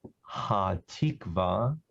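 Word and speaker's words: Hatikvah: It's Ha-Tikva. Ha means the, Tikva means hope. Ha-Tikva. And in English, people usually spell it H-A-T-I-K-V-A-H, Ha-Tikva.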